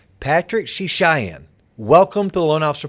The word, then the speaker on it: Srichaiyan: Do not try to spell his last name, but let me pronounce it for you, Srichaiyan. Patrick Srichaiyan.